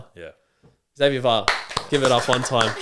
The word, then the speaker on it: Va'a: Wait, is it Bar? Yeah. VA. Yeah. Oh, sorry. I've been saying your name wrong this whole time. Va. Yeah. Xavier Var, give it up one time.